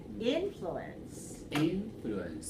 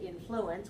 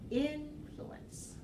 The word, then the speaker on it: influence: me pronounce this way influence right there are actually some people who say influence with the second solo influence I pronounce it with the stress on the first syllable influence so that's the way